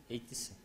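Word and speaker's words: /etc: Like, how do you pronounce ethical directory in English? ETC. ETC? The thing where you keep the configurations? ETC? Okay. So, not ethical, as in Romanian.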